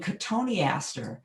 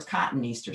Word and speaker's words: cotoneaster: nursery, somebody said, oh, you mean cotoneaster, because they were asking for cotton Easter, simply pronouncing it a different way.